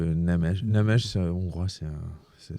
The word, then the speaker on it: Nemes: de recevoir pour la première fois monsieur Laslo Nemes. Alors on dit Nemes. Nemesèche comment on prononce ? Comme vous voulez. Vous pouvez dire Nemes ou P Nemesche. Namèche c'est hongrois c'est un ça se dit Namèche.